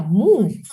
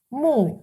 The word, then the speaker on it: 木: un radical este carácter, que se pronuncia mu. Mu es un solo radical.